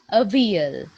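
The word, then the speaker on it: Avial: He named it a veal. A veal. There is the pronunciation.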